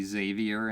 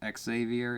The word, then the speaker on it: Xavier: sucks so you know x's are are pronounced with s's most of the time right it's it's or z's x is standing for z's so it's really xavier and not x savior it's xavier that's what the that's what the university's called xavier so this is drogzine